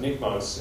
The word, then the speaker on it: NICMOS: So it's called, it's pronounced NICMOS, and it's an infrared camera.